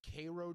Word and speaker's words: Cairo: I brought up Cairo, Georgia. It's actually pronounced Cro, Georgia, and it is the birthplace of one Jackie Robinson.